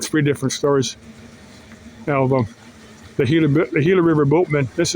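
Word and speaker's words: Gila: Now, the Hila is a major river. It's spelled with a G, but it's pronounced Hila.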